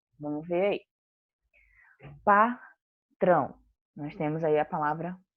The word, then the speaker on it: patrão: Patrão. Nós temos aí a palavra patrão. Eu já marquei qual é a sílaba tônica. É o trão. Então, ela é a sílaba mais forte e está na posição 1.